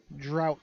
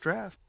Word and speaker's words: Draught: It's the drought stout. That's draft. No, it says drought. It doesn't say Draught? draft. I believe that's pronounced draft.